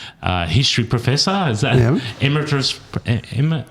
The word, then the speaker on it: emeritus: Is that emeritus?